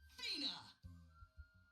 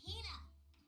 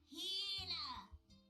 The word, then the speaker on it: Hina: And this young lady is my traveling companion, the esteemed archaeologist, Fina. Ugh, you keep saying it wrong. It's Hina. Hina.